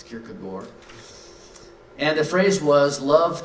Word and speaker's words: Kierkegaard: from Soren Kierkegaard and we learned how to pronounce that correctly it's not Kierkegaard it's good boy and the phrase was